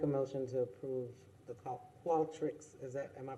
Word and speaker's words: Qualtrics: Okay, so I make a motion to approve the Qualtrics, am I pronouncing that right?